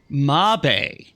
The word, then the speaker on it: Mabe: Mabe. Mabe Village is how it's supposed to be, how they pronounce it. Okay. I appreciate that information. Which it makes sense, because it's not actually spelled maybe. Mabe.